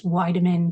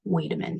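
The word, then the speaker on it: Wiedemann: with wamin syndrome that is the way it's pronounced according to how I researched it thought it was vitamin but I heard I'm saying wedaman so um be with wedaman syndrome reported in 10 to 22% of fetuses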